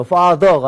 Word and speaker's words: father: 그러니까 father도 마찬가지죠. father가 아니라 father. 그러니까 fa에다 힘 줬죠.